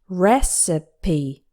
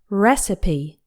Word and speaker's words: recipe: to prepare the food this word has three syllables and the stress is on the first one recipe make sure to pronounce